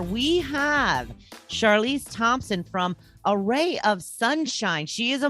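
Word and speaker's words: Awry: of sunshine is because array is my middle name because it's spelled a-w-r-y array of sunshine yes so not quite like you know in math but pretty close sounds the same right so um it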